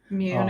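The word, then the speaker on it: Muun: M-U-U-N, however you pronounce it. Mune is usually how I've heard it said.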